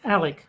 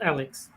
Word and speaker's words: Alec: the guy's name wrong it's Alec not Alex all right I have